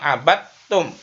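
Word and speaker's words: عبدتم: Misalnya abadtum, dibacanya abadtum. Itu namanya idgham mutajanisain.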